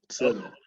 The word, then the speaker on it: Celo: So Celo, is that the right pronunciation, Umar? Yes, Michael. Celo.